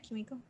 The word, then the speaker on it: Kimiko: They're all in there, and it's Lamplighter, Kimiko, right? Am I Kimiko. saying it right? Kimiko.